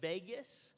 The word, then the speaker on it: vagus: stimulate what's called the vagus nerve. Vagus nerve, not like Las Vegas, it's spelled different, vagus.